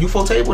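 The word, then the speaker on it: ufotable: What is it? UFO table? That's how you actually pronounce it.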